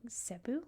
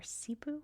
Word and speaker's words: Cebu: The first being Zebu or Cebu. I've heard both pronounced. I think it depends where you're from.